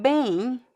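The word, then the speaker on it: bem: And then we have the word bane. Here I think we only have one pronunciation. And we also make like a diff thong here. A. There's no m sound at the end.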